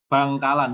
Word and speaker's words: Bangkalan: Bangkalan, ini bacanya Bangkalan, bukan Bangilan, Bangkalan.